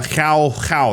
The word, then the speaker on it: João: They're going for João. That's how you say his name. João Felix.